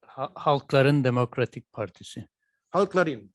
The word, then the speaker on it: Halkların: And here you see the logo of the, can you pronounce this for me? It's Halkların Demokratik Partisi. Halkların.